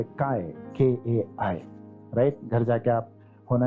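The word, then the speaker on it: καί: KAI. Spelling ऐसे आता है, लेकिन pronunciation होता है kai.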